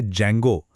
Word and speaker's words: Django: इसका प्रोन्सिएशन है जेंगो। इसमें डी साइलेंट होता है।